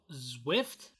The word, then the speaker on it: Zwift: Speaking of fitness, it's called Zwift. Zwift. You got Zwift. to spell that. ZWIFT. Okay. Like Swift, but with a Z.